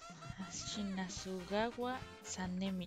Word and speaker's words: Shinazugawa Sanemi: Shinazugawa Sanemi. O sea, se pronuncia como suena. Se pronuncia como se escribe, Chris Gabo.